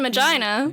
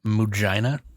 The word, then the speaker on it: Mujina: you mean Magina? Yeah, he's like, no, stop. You're pronouncing it wrong. It's Mujina. I peed a little bit.